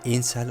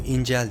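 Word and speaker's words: incel: denen cani hakkında onun İnsel olabileceği konusunda konuşalım ortaya diye bir kelime çıktı çoğu kişinin ilk kez duyduğu bir kelime birçoğu İncel diyor Fakat bu doğru bir telaffuz değil Çünkü kelime İngilizce kökenli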